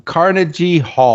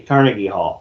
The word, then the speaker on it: Carnegie Hall: concerts um two shows at car um um carnagey Hall car Carnegie Carnegie Hall Carnegie Hall Carnegie Hall my bad my bad